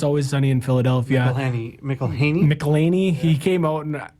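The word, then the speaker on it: McElhenney: McElhaney?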